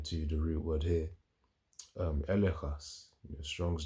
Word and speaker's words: elegchos: Elechas. Elechas. So elechas. Elechas means here's literally spelled as or pronounced as, it's elechas, but it's seen as elegchos, in terms of if you wanted to spell it out, ELEGCHOS.